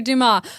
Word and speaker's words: Dumas: It's Alexander Dumas. I'm about to mispronounce a lot of names, so buckle up.